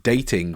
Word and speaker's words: Dataing: also have another business which is pronounced dating but it's spelled weird it's like data but then it's AI NG type thing so talk to